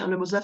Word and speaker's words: Lemosof: Lemozov, ça s'écrit Lemossof. Et quand on va sur Internet et qu'on tape Lemozov, forcément, vous avez sur mon site.